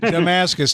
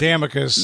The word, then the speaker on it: Damascus: I know, but not Damicus. No, but it's Damicus. I know it's Damicus, but I'm just saying. No, it's Damascus. Damascus. Dang it! I know it's Damascus, and I still said it wrong.